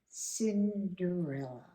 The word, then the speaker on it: Cinderella: ago I wish anyway Cinderella starts with the letter C but it's pronounced like the letter s Cinderella ready before I start